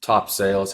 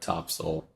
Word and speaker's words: Topsail: the beach in North Carolina in Topsail it's top sales how it's spelled but topsoil is how it's pronounced another one of those